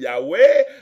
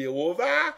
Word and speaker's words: Yahweh: He Vav He, puis il faut prononcer yo faut dire Yahweh, même à sorette dans un premier temps, yo te fait moun di Yehovah, et après 25 ans